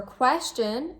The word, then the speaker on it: question: Now, for question and practice, where is the stress placed? Question, practice. The stress is placed on the first syllable.